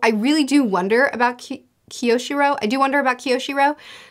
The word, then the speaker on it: Kiyoshiro: Kiyoshiro is how they told me to pronounce it, so Kiyoshiro.